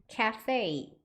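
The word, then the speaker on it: Caffè: 카페라고 써 있는 거 근데 원래 카페가 카페와 카페가 아니에요 발음이 발음 한번 해보시면 카페이 카페이 이렇게 발음 하거든요 완전 다르죠 그래서 카페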